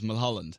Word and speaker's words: Mulholland: was one time where his surname is Mulholland like the street or how do you